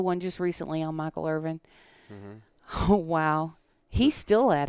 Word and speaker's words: Irvin: My grandmother always called him Michael Irwin. Irwin. It was like Gagi, so she always mispronounced his name.